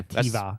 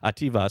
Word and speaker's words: Atiwa: Okay, Ativa. that's the way of like a V. Oh, okay. Like a Uwe? Like a Uwe, exactly. Ativa. So Ativa.